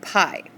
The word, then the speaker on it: pi: circumference both of them involve a value called pi and it's not P ie it's the letter